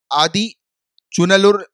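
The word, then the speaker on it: Adichanallur: असम के अंदर शिव सागर, तमिलनाडु में आदि चुनलुर लुर, राइट, आदि चनलूर, तो थोड़े से अजीब प्रोनाउंसिएशन होते हैं, वो तमिलनाडु वाले हैं ये।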